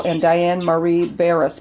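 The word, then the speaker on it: Barras: can pronounce this right margarite how do you pronounce s i l sigle sigle corbo c o r b o and Diane Marie Baris b a r r a s so just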